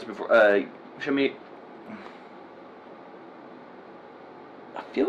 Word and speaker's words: Saoirse: How do you say Sorsay? Saoirse Ronan? Ronan? Is it? Uh, How do you say it? Is it Her first name. Sorsay? Because she's Irish. she's. I've heard her pronounce it before. Shami.